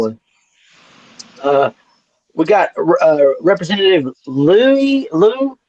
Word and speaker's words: Lieu: Uh, We got Representative Lou. How do you pronounce his name? Lieu.